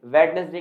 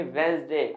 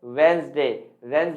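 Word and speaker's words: Wednesday: आप बोल कर देखिए वेडनेसडे की जगह आप बोलिए वेस्ट दे आप कहेंगे सर अगर हम लिखे इसे तो कैसे लिख सकते हैं आप इसे लिखिए वेडनेसडे क्या लिखे दोस्तों हालांकि स्पेलिंग वही होगी ब्लू ए डी एंडेज दी ए ए लेकिन नहीं आप बोलेंगे इसे वेल्स दे का मतलब क्या होता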